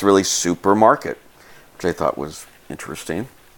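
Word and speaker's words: супермаркет: how you pronounce it this C is pronounced like an S this is all you as a P like PI the P hears there's an R so it's really supermarket okay I thought was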